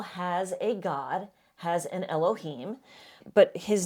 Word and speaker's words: Elohim: It's pronounced Elohim.